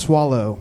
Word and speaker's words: Soleil: It's actually pronounced swallow.